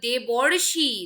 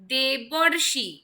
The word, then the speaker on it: দেবর্ষি: দুটো মিলে হয়ে গেল দেবর্ষি দেখো উচ্চারণে কিন্তু এখানে একটা অর আসছে তাই না দেবর দেবর্ষি তাহলে এই অর কথাটা কিন্তু যুক্ত হয়ে যাচ্ছে এইখানে এবং রেপ যেটা